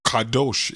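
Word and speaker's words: קדוש: Kadosh. Kadosh. Kadosh is the way Second it's pronounced.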